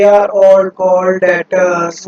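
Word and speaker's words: debtors: यहाँ पर बेटा जी बी साइलेंट होता है, जब इसको प्रोनाउंसिएशन करेंगे तो डेटर्स के नाम से करेंगे।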